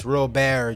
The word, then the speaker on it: Robert: think fuzzy said something you've been saying it wrong well it's spelled Robert so guess what I'm going to call him Robert I don't care it is what it is it's an American accent I call him Robert